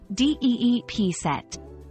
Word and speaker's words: deep-set: established in her values the pronunciation of deep set is straightforward with emphasis on the first syllable d p set when using deep set